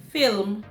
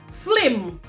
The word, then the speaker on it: film: harm do anything so instead of saying film we change we substitute the spaces of the l and the i and we say flim so instead of film